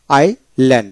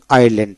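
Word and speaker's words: island: শব্দ আমরা পাইনি যেমন আই ল্যান্ড এখানে আইসল্যান্ড যায় কি হবে আইল্যান্ড এখানে এ আইতে আই এল এ এনডি ল্যান্ড আইল্যান্ড এস এর উচ্চারণ হবে না তারপর হল আই লিট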